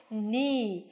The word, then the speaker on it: knee: Knee.